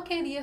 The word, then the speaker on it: queria: Agora, queria. O QU, ele forma um dígrafo. A letra U, ela não é pronunciada. Queria.